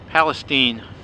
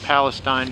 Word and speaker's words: Palestine: Hey everybody, I'm just a couple miles, hang on, there we go, a couple miles outside of Palestine. It's spelt Palestine, but they pronounce it Palestine.